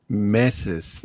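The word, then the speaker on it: meses: Messes is how you say months. messes. Not messes, but messes.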